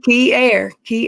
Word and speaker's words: Kinnear: Key air, just like Air.